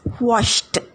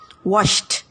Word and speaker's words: washed: S-H has sh sound, which is unvoiced. So it will be pronounced as washed, washed.